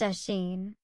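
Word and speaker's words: Oisín: said Finn turning to oen pronounced aen the cuckoo calling from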